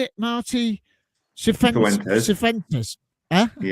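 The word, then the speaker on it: Cifuentes: Suventes. Huh? Yeah. Yeah. Suventes.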